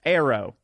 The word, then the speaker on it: Eero: Eero K. Pronounced Arrow. Okay, right on. It's pronounced Arrow.